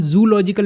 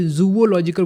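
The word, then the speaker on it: zoological: The combination of द टू ओज tempts many people to pronounce the first 3 letters of these words in one syllable। ये उन्होंने pronunciation के बारे में बताया है कि इसको हम जूलॉजिकल नहीं बोलेंगे, जूवोलॉजिकल बोलेंगे।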